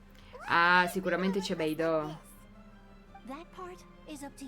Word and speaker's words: Beidou: Per quello c'è quella U finale e si legge Beidou. Come Atsuko.